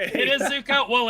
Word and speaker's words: Zucko: I have been informed I've been saying his name wrong the whole time. I will correct myself. Nick Zucko has picked the ADV is first for Dark Knights. I totally trolled you. It is Zuko, but that's okay.